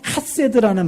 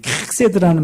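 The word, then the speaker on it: חסד: 이 킥세드라는 말인데 발음 어떻게 하는 거냐면 가래 뱉기 직전이에요.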